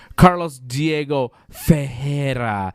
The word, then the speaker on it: Carlos Diego Ferreira: pronounced Carlos Diego Ferreira.